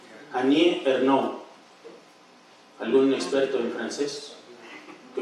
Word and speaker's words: Annie Ernaux: la lengua gálica, que me corrija en la pronunciación. Annie Ernaux.